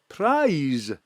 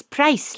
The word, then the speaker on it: Price: prize wha i-e-s yes prize like pies no stackis is price like rice yes like rise minced